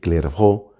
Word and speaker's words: Clairvaux: This is important because the monastery of Clairvaux, in French it's called clervó, from the monastery of Clervó or Clairvaux, a large number of new monasteries emerged.